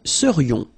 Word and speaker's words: serions: So then, final S not pronounced, and then this is this yon, yon, remember it goes in your nose, it's nasal, yon, nous serions.